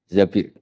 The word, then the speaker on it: Zabir: Zabir di hadis ini bukan Mbak Bacanya bukan Zubair tapi Zabir.